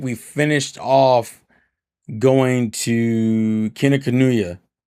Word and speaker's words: Kinokuniya: So we went there, and then I think we finished off going to Kinokuniya. How do you pronounce?